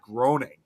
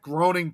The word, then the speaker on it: Groening: name was supposed to be pronounced Matt Groening. That one got me. It took me some time to remember his. I used well, and I'll that makes two of us because I used to pronounce it as Matt Groening too.